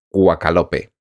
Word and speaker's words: Quakalope: original en el canal Quakalope. Se escribe así, Quack, como si fuera un pato, y Lope, pues sí. Y Lope, pues no sé, como de Vega.